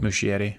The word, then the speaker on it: Muschietti: Muschietti. Thank you. I have no idea that's how He it's actually pronounced.